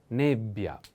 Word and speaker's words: nebbia: accent is on a pay attention to this double consonant like pioja ja in this case double b bia nebbia nebia is a female noun